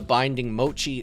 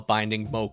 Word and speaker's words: Binding Mochi: course we have The Binding Mochi tool card here as well I know people in the comments hate when I mispronounce cards it sometimes I call binding Moi but yes binding Mochi uh to increase the